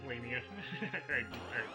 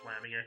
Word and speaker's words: Lamia: Lamia. Lania. It's Lamia. I don't know why I pronounced it the other way the first time.